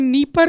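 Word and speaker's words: Dnieper: है नाइ परर रिवर हिंदी में नी परर लिखते हैं डी साइलेंट है आपको इंग्लिश में डिनी परर लिखा हुआ मिलेगा तो नी परर इ the right word in Hindi नी परर रिवर अगर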